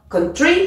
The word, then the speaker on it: country: première syllabe comme ici tu vois country il y a bien deux syllabes et c'est la première dans ce cas qui est accentuée on va donc dire contr par contre si c'est